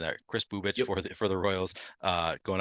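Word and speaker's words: Kris Bubic: I think I'm pronouncing that. Chris Bubich Yep.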